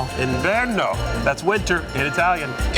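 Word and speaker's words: inverno: Ino. Ino.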